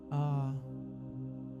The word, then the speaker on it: Aum: If you don't have any mantra in your mind already, work with the simplest of all, the mantra Aum. 2 syllables. Aum.